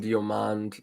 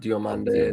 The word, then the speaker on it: Diomande: First of all, it's Ousmane Diomande, not Diomande. There's no accent on the last E.